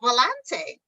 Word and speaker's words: Volante: with Dr Sandy and today I have Sheila Volante hi is that how did I pronounce your name correctly you pronounced it perfectly